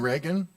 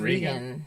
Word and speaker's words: Regan: Even And like, you mean Reagan? Is that how you say it? I don't know, is it Regan? think it's thought Brian Regan. Brian Regan. Yeah. Yeah. I thought it was Reagan.